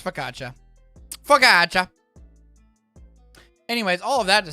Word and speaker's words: focaccia: need the history of focaccia i just literally want to know how to say it um italian you have to pronounce each vowel so it's focaccia oh here it is